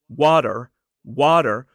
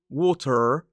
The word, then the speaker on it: water: And also that T in the middle is what we call a flap T. It sounds more like a D. So it's not water, it's water, water.